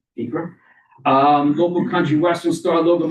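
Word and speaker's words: Acra: That's in Acre, and I pronounced it correctly, Acre.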